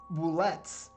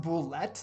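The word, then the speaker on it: bulette: Shortly after the characters enter the cavern, two boulettes attempt to ambush the character looking for an easy meal. I've been told this is pronounced boulette, like cigarette, not boulet.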